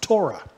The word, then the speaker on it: Torah: love the law that's in modern Hebrew that's pronounced Torah in ancient Hebrew it's pronounced anounced Tha amen